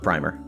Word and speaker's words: primer: on the pronunciation one it's got a soft eye oh yeah even though it's spelled primer right that's that's the clarification is it's PRI mer yeah very interesting yeah it's